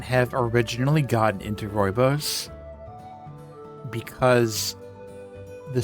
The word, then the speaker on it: rooibos: Well, if you've never looked it up, then you can't pronounce it. Rooibos. Rooibos? Rooibos.